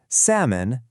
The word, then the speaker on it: salmon: We've got calm, folk, salmon, half, chalk, and that super tricky one, psalm.